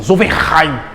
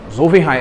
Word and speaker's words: Zollverein: Na verdade, o Felipe está aqui, é um cara das línguas, eu vou tentar pronunciar do jeito correto, assim, Zollverein, entendeu? É assim um negócio mais... Viu, gostou? Né? Zollverein, é Z-O-L-L-V-E-N-R-E-I-N.